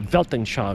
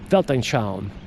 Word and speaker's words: Weltanschauung: This will develop your Weltanschauung. Remember that German word? Weltanschauung. With a V when you pronounce it, but it's spelled with a kind of a W.